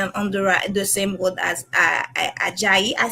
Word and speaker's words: Ajayi: So I will say on the same word as Ajayi. I said that right? Yes, nailed it. Perfect. Thank you, thank you. It's pronounceable in French and Creole, so that was a mistake for me.